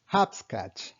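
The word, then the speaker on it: hopscotch: நம்ம சின்ன வயசுல கட்டம் போட்டு நொண்டி விளையாடுவோம்ல, அந்த நொண்டி விளையாட்டுக்கு பேர் வந்து இங்கிலீஷ்ல ஹாப்ஸ்கேட்ச். ஹாப்ஸ்கேட்ச். ஸோ இது ஸ்பெல்லிங் வந்து ஹெச்ஓபி ஸ்காட்ச்னு இருந்தாலுமே வந்து நம்ம உச்சரிக்கிறது வந்து ஹாப்ஸ்கேட்ச்னு சொல்லுவோம்.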